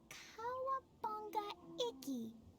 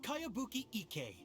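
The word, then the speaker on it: Kayabuki Ikka: new one i've never heard of it by cowabunga icky your mia this is a really strange name who's this cowabunga it's pronounced kayabuki ek that would be me outlander brigade is a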